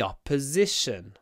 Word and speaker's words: opposition: the side of the opposition opposit here opposition opposition not or but a opposition opposition it's really important to pronounce the stressed o with an open mouth opposition the next one